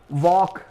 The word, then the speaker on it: walk: वॉक यानी चलना, WALK, यहां पर ये वॉक में एल का उच्चारण नहीं होगा।